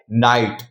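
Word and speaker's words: night: जब किसी वर्ड में आई के बाद जीएचटी आए तो आई को हम आई पढ़ते हैं और जी एच साइलेंट रहता है।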